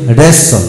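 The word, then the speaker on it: wrestle: যেমন রেসল, রেসল ডব্লু আর ই এস টি এল ই রেসল।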